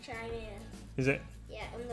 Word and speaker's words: Chimera: The Chimera or Chatler, it is pronounced Chimera.